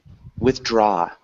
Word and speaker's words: withdraw: collateral nice awesome uh withdraw it's emphasized on the other syllable so withdraw good and then when